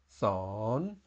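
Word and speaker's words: สอน: something that's broken here we have a very similar word but it has no tone Mark so the tone is still a question tone son and that's what I'm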